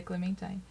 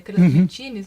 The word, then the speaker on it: Clementine: A pronúncia em inglês seria Clementine. Aí a gente achou bonito o nome, achou que teria a ver e a gente acabou adotando, porque também se tivesse uma pronúncia abrasileirada, que seria Clementines, não ficaria ruim também.